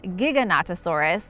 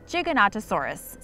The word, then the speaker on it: Giganotosaurus: Okay, so for the pronunciation, some people say it's Giganotosaurus, like gigabyte, or play on words of giant because it's so big, so Gigantosaurus, or Giganotosaurus, like it has no toe.